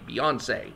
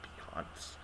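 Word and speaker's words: Beyoncé: please please do start saying her name properly beyonce not beyonce wow okay so dr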